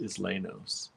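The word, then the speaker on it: Isleños: like who's growing what is loo says suzan's pronounced islenos I huh the islenos I think those are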